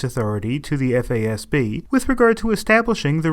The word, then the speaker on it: FASB: Historically, the Financial Accounting Standards Board, abbreviated FASB and pronounced FASB, has been the private sector organization responsible for promulgating the rules of accounting.